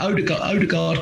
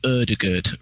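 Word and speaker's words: Ødegaard: Yeah, Odegaard can go in there.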